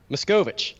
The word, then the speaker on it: Machkovech: how do you say your last name miss Govich miss Govich I didn't want to butcher it I'm sorry I butchered it in your intro there is a